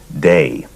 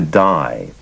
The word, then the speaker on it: Dai: people around him pronounced his first name day and when he moved to California the pronunciation shifted to die and there were sometimes moments of almost friction on the issue of pronunciation so not surprisingly many people would ask him what's the correct pronunciation day or die and he would smile and say either or either okay you say